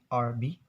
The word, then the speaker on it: herb: For example, like herb, herb, Herb. In Americans, they pronounce it herb. So the H is silent, but in British accents, it's will be pronounced it really clear, like herb.